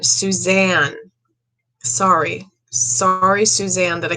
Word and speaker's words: Suzanne: hear susan morphew suzanne a lot of people gave me flack on the last video for not pronouncing her name right so i'm going to say her name again suzanne sorry sorry suzanne that